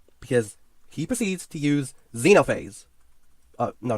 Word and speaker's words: Xenophanes: And apparently his name isn't pronounced Xenophanes.